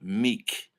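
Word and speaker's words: Miike: I pronounce it Takayashi Meek. It looks like Mike, but there's two I's. I heard it's pronounced E.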